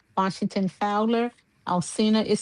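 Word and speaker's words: Alcina: You can Google my name, Alcena Washington Fowler. Alsina is spelled A L C I N A Washington Fowler.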